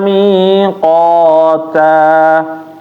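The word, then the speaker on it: ميقاتا: Mi-nya panjang ya Bapak. Na-nya pendek. Kana mi ada ya di situ. Inna yawmal fasli kana miqata.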